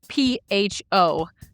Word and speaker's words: pho: So pho is kind of an interesting word because it's spelled P-H-O. So in the English language, you would say pho, but it's pho.